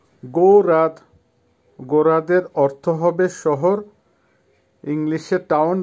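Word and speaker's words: город: গৌরাদ, গোরাদের অর্থ হবে শহর, ইংলিশে টাউন বা সিটি, উচ্চারণ হবে গৌরাদ, আবারও বলছি গৌরাদ।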